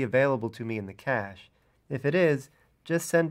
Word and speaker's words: cache: like a squirrel's cache of nuts it's spelled c-a-c-h-e pronounced cache and it just associates some inputs with